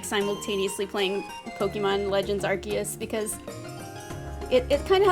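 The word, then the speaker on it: Arceus: I know it's actually I always thought it was Arus and I think most people pronounce it that way, but it's it's Archus actually. So, or maybe even more like Archaeus, which makes more sense, but everyone always said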